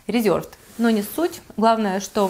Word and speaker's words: Reserved: Она из Reserved, просто здесь говорят Reserved, и вы потом говорите, почему я так произношу, потому что это польский бренд, и здесь говорят так, ну, Reserved.